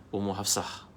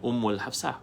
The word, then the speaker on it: Ummu Hafsah: Ya, doa tu pernah saya ijazahkan kepada tuan-tuan, boleh amalkan Ummu Hafsah. Ummu Hafsah. Ya. Betul kan ejaan tu? Ummu Hafsah. Hafasata. Ummu. Alif di atasnya hamzah, mim. Ummu Hafsah. Bukan Ummul Hafsah.